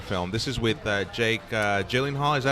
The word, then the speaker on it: Gyllenhaal: This is with Jake Gyllenhaal. Is that how you pronounce it?